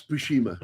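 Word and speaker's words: Buscema: Am I pronouncing? Yeah. You Yeah, it's Bushima.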